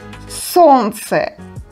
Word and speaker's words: солнце: In this combination, we don't pronounce Л sound. We pronounce just Н and Ц.